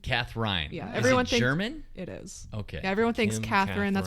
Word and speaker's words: Kathrein: at then Mr Evan sorry Evan uh Katherine welcome Katherine hello thank you for having